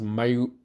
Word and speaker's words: Mayu: I think it's Mayu. It's Mayu Iwatani.